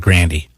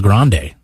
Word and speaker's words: Grande: yeah we're a.g and we say a royal grande not around granny i think the old school guy is called a royal granny because they don't know how to pronounce words they're rednecks like the cowboys the the ranchers the guys that have horses you know they call it granny um but i mean i think it's pronounced royal grande so what you're saying